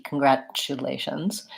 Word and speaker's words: congratulations: is well at congratulations we do pronounce that T congratulations because it goes together with this you sound it sounds a little bit like a CH congratulations congratulations complicated a